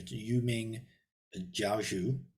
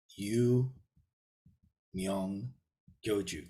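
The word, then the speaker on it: 幽冥教主: Okay, yes, the second Namu, Yumyong Gyoju, which in the opinion, in the Mandarin pronunciation, Yuming Jiaozhu, something like that. In the Sino-Korean, it's Yu Myung Gyoju.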